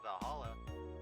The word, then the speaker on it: VA-11 Hall-A: The name's silly and a bit hard to pronounce. Good thing it's actually called Valhalla.